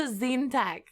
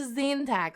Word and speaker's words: Tzeentach: so yes Seth to Zantac or Seth zintak I want to treat the TZ like a TS like in Sal or something but I don't know